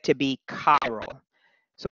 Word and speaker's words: chiral: So whenever a substance is asymmetric and therefore is not identical to its mirror image, the object is said to be chiral. So C-H-I-R-A-L, pronounced chiral, chiral.